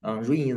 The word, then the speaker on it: Ruiyin: Ruiyin is Chinese pronunciation.